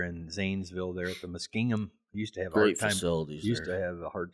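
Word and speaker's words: Muskingum: Zanesville there at the mingham used to have hard fa used to have a hard time pronouncing that but it's mingham mingham County Fairground so it's probably well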